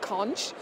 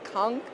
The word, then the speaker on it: conch: our bohemian staple conch the British would call it conch but the correct pronunciation if your true true bohemian is conch when that served almost